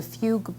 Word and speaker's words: fugue: The concert included a fugue by Bach. Fugue. Fugue, F-U-G-U-E, fugue. Correct. Good. So that's how you pronounce that word.